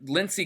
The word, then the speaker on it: Lindsey: I like to say Lindsey because that's how Senator Graham pronounces his own name. But Lindsey Graham said that the